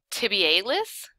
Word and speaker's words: tibialis: Do you say tibialis? Because that's the correct way to say it. Tibialis.